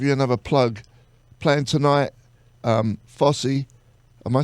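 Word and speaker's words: Fozzy: another plug playing tonight Fossey am I saying it right fuzzy fuzzy like the Fonz I'm not Fonzie if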